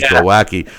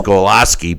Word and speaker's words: Glowacki: I always thought it was Glowacki, but it's Golaski.